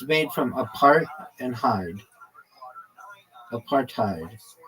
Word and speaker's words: apartheid: I mean, I I' used both of them, but well, I don't know if I've ever said, no, apartheid is what they say.